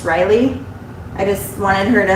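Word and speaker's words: Rylea: her name r-y-l-e-a so a lot of people call her rylia but it's just riley i just wanted her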